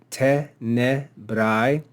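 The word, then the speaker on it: tenebrae: And then lastly, we saw this word tenebrai, tenebrai. And if we look at the penult syllable, we see that it's common. Therefore, we'll accent the antepenult. Tenebrai, tenebrai.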